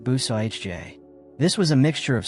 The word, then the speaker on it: bouzillage: The early Acadian builders used a technique called bouzillage, pronounced bou-sa-ij-jay.